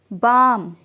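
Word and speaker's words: balm: एल, आर्म्ज या अम्ज, बाम, पाम। इस तरह के सभी सेंटेंसेस में एल का साउंड साइलेंट होता है। जब भी एल के बाद एम आता है वहाँ पे हम एल को साइलेंट रखते हैं।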